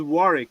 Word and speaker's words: Warwick: you know castle dear it's actually pronounced as warwick you don't pronounce w so um how long